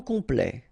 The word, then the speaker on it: complet: Okay, here a T at the end will open it. The sound of the E. So E. Okay, plait. Complet. Complet.